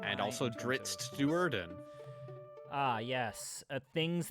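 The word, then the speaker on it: Drizzt: Or, as I like to pronounce it because I know it pisses you off, Drizzit.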